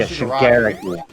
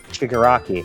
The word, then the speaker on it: Shigaraki: Yeah, Shigaraki. Shigaraki. That's how they say it in the anime. Shigaraki. I think that's how they pronounce it in the dub, because that's what I watch.